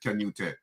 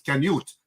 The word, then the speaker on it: Canute: Because my name is pronounced Canute sometimes. Canute. The Spaniards pronounce it Canute, but it's Canute because it's British.